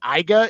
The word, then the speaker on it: AIGA: in into your foundation is it the IGA is that how you pronounce it the IGA Foundation family